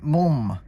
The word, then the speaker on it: MLM: These are wul and mum. And they're supposed to be pronounced like that, from what I understand. I'm not making that up.